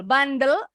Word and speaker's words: bundle: Bundle, bacanya bundle bukan bandel nakal ya.